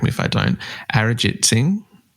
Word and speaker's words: Arijit Singh: Arijit Singh? Yeah, no, that's not bad at all. Arijit Singh, yeah.